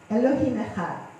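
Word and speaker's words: אלוהים אחד: ค่ะแล้วก็เซตสุดท้ายจะเป็น13นะคะ13เนี่ยตรงกับคำว่าภาษาฮีบรูนะคะอิกขาดนะคะซึ่งแปลว่าหนึ่งเดียวก็คือพระเจ้าองค์สูงสุดนะคะหนึ่งเดียวก็เพราะฉะนั้นเนี่ยตั้งแต่ข้างบนลงมาถึงข้างล่างนะคะก็จะมีความหมายว่าพระคุณของพระเจ้าที่จะช่วยให้เราปฏิบัติตามกฎบัญญัติ10ประการของพระองค์นะคะแล้วก็พระนามของพระเจ้า So the total number of wraps พระเจ้า here อง means ค์แท้สิ้นแท้องค์เดียว Elohim Echad.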